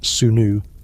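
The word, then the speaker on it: swnw: Doctors known as Sony, pronounced Sunnu, did exist.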